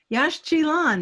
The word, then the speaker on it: Yaxchilan: Yash Chilan, that's how you pronounce that.